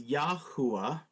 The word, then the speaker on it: Yahuwah: quill check, Yahoo, and then this makes kind of an O or an OH sound. So together this says Yahuwah.